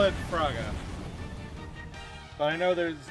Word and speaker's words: Firaga: I call it Firaga. But I know there's like Firaga or Firega. But I call it Firaga. Or if you say it really quickly, Fraga. I like calling it Firaga.